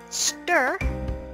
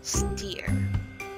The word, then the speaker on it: stir: begins to boil again stir not steer thank you so much